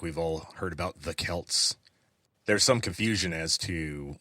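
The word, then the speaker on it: Celts: But the original word was a hard C.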